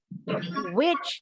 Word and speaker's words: which: ada ininya Hammer fonts-nya Which yang mana dengan Which penyihir bunyinya sama Which Which Oke kita lanjut lagi